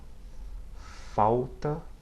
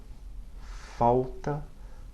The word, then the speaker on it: falta: It sounds like the OW or the W at the end of the word cow in English.